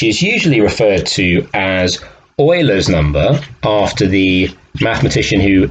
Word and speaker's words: Euler: Now, you might think this was pronounced Euler, very common mispronunciation, but actually because he was Swiss, it's pronounced Euler.